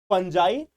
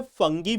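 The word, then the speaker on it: Fungi: Monera, protista, फंजाई, देखो इसको English में फंगी भी बोलते हैं, अगर आप देखोगे तो जनरली इसको इंग्लिश में जो प्रोनाउंसिएशन है वो फंगी है।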